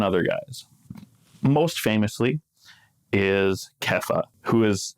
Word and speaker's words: Kepha: Good old Simon, son of Jonah, famously known as Peter today, or Rocky, I think, is a perfectly reasonable alternative, because Kepha, the name that Jesus actually gave him, and